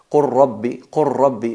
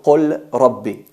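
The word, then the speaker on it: قُل رَّبِّ: No hay que pronunciar el qaf en el caso de nakhluqukum, hay que decir nakhluqukum, nakhluqukum, qur rabbi, no qul rabbi.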